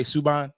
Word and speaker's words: Subban: All right, we done with PK Subban.